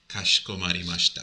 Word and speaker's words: かしこまりました: In the E sound here, you don't really heavily pronounce it. It's just kashikomarimashita.